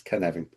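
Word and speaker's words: Cynefin: understand how to pronounce kvan. It's not svan it's kvvin. Yeah. Welsh is phonetic. We just have a different alphabet from those bastards over the river seven.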